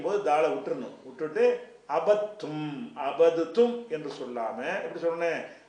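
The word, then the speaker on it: عبدتم: இந்த தால வந்து க்ளோஸ் பண்ணிரனும் உச்சரிப்புல எழுத்துல இருக்கும் உச்சரிக்கும் போது தால விட்டுரணும் விட்டுட்டு அபத்தும் அபதுத்தும் என்று சொல்லாம எப்படி சொல்லணும் அபத்தும் அப்ப அந்த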